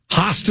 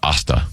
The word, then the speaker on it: Hasta: Hasta la vista, baby. I think it's Asta. But is it Asta? Yeah. What did I say? You said Hasta. Oh. The H is silent.